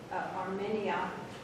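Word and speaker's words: Armeria: But I always like to pair my Armenia, that's the way you pronounce it, with Tulips.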